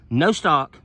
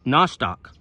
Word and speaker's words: Nostoc: it's a it's a bacteria and it's called no stock one word or no stock n-o-s-t-o-c google that and there's really not a